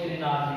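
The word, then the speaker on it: Grignard: जीआर यहाँ पर आपको पता ही होगा, ऑफलाइन क्लासेस में कई बार मैं आपको बता चुका हूँ, जिनार्ड एजेंट और ग्रिनार्ड एजेंट, डी को साइलेंट मानो ग्रिनार्ड एजेंट।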